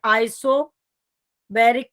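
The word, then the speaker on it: isobaric: अब आ जाता है आइसोबैरिक प्रोसेस। आइसोबारिक भी बोलते हैं इसे, अलग अलग स्टैंडर्ड्स बुक में इसका अलग अलग प्रोनाउंसिएशन है।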